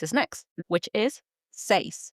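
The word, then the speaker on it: seis: 6 is next, which is say s e i s. That's right. And it's pronounced just like you would say Simon says in English.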